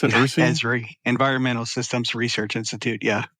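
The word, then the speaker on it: Esri: you've been a ceso of a company called ersy is that how you pronounce it ezri environmental systems Research Institute yeah ezri it's the reason I asked man and you've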